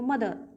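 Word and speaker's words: mother: मैंने आपको बताया था अभी आर जो पीछे आएगा वह साइलेंट आएगा अंग्रेज लोग जैसे बोलते हैं वैसे बोल के देखो मदर मदर तो आर जो है वह साइलेंट है और ई आर इसकी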